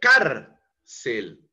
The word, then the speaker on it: cárcel: Cárcel. La entonación está en la penúltima sílaba.